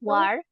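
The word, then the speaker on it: 玩儿: 运动 War. 玩 War. Dia tulisannya one, tapi ditambah War. er belakangnya. Jadi war, bacanya War. n-nya dihilangin ya.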